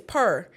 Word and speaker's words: Peri: And it's not Perry. It's not Perry. It's Purr. Purr.